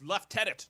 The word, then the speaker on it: lieutenant: were saying um it's it's left tenant don't say it like an American and they made a thing I my whole life and I just thought oh it's lieutenant I always say lieutenant the American um version of all that along it's